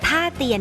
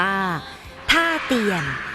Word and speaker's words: ท่าเตียน: พำนัก พัก อาศัย และ ต่อ มา คน ไทย ก็ เรียก ชื่อ เพี้ยน ไป จาก ฮาเตียน กลาย เป็น การ ออก เสียง สำเนียง แบบ ไทย ๆ ว่า ท่า เตียน ด เช ที่ เรียก